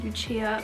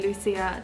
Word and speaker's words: Lucia: my name is italian it's pronounced lucia for anyone that didn't know because a lot of people call me lucia that is incorrect you are calling me